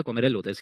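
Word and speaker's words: Kommerell: कहते हैं कोमाइल डेटिकुलम कोमेल तो नहीं होता कोमेरल होता है के डबल एम ई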